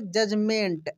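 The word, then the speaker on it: judgment: ई एन टी जजमेंट अब यहां पर जो डी है यह साइलेंट है दोस्तों डी क्या है साइलेंट है देखिए इसको कैसे हम लोग पढ़ेंगे जजमेंट ऐसे ठीक है जजमेंट दोस्तों पेन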